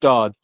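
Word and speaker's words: Gstaad: a place called uh spell GST a a d pronounced St um and it's just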